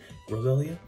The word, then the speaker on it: Roselia: Just for relative size comparisons, you do see the Jazz wears Roselia, that's how you say it, and it's massive compared to it.